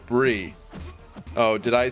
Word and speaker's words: Brie: Brie is not pronounced Bry, it's pronounced Brie.